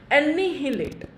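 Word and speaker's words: annihilate: एनिहिलेट, एनिहिलेट, again pronunciation पे जो जोर है वह कहाँ पड़ रहा है, एन पे, है कि नहीं।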